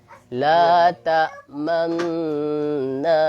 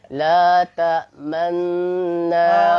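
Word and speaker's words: لَا تَأْمَنَّا: Intinya mulutnya monyong, begitu ya. Coba Ustaz bacakan sekali biar pemirsa bisa melihat. Sebelum monyong harus tersenyum dulu. Oh, tersenyum dulu. Karena dia kombinasi antara fathah. Fathah kan nggak bisa langsung monyong, Ustaz. Senyum, monyong gitu. Senyum baru monyong.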